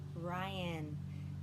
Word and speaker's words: Ryan: to play a game my name rhymes with lion lion but it starts with an r my name is mrs ryan rhymes with lion my